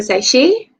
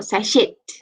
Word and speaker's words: sachet: i'll just grab one sachet you know the word sake how do you pronounce that remember to pronounce it with silent t not sashit because that is not